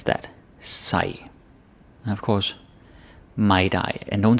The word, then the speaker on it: mig: got some I's, but the focus here is more on some soft D's or hard D's or silent G's. That's also pronunciation. It's not all about vowels. So, mig, dig, sig, and with short pronouns.